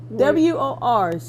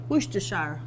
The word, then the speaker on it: Worcestershire: Well, I can't pronounce it, so or spell it. Worcestershire. Worcestershire.